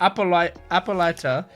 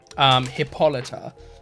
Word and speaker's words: Hippolyta: Hippolyta. Okay. Where do I write that? I write that here. So it's got it's spelled hippo and then lighter.